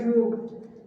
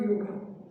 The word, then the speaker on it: yoga: When your ma'am was speaking about your college, she pronounced it as yoga, not yoga.